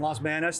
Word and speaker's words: Los Banos: wow awesome i uh i got a lot of friends up in dos palace in los banos that's that's the correct way to say if you know the